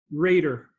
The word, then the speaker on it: Rader: correct there I should have made sure I'm pronouncing as a red or a radar Reiter Reiter Reiter very good okay excellent so you're